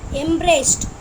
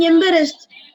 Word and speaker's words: embarrassed: Embraced. Ma'am? Not embraced. Not embraced. It's not embrace. Embrace is different. Naufal, can you say that word? Naufal. Ma'am, embarrassed.